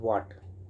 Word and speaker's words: watt: Okay, वाट, W वाट ये नहीं समझना WHAT। ओके, इसको मत समझ लेना वाट, ये आपका वाट क्या है, इसका स्पेलिंग देख लो, WATT है। ओके, इसे कहते हैं वाट।